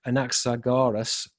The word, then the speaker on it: Anaxagoras: the Greek tradition, according to Anaxa, let me pronounce his name correctly, Anaxagoras, the princely speaker, but we're seeing that this is equated with panspermia.